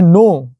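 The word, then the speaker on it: knee: है तो देखते हैं नो देखो न पहले के आया के के बाद एन बोलो नो मतलब जानना होता है साइलेंट हुआ है हम न कहां पढ़ रहे हैं नी पूरा साइलेंट मतलब घुटना होता है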